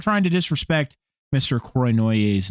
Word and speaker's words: Cournoyer: Yeah, no, they say it like with the R at the beginning. They say Cronoyer.